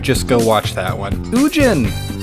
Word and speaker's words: Ugin: go watch that one oogin if i get one more comment telling me that it's pronounced yujin or ugin i'm gonna [ __